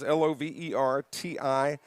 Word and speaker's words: Lovertich: So 1st and 10, again at quarterback, Chance Lovertich, and it's spelled exactly like it sounds, Lovertich.